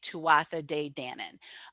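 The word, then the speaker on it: Tuatha Dé Danann: pronounce it like phonetically tuwasa de dannon um if you were to pronounce it in gaelic it would be tua they don't pronounce the th to a dandanan and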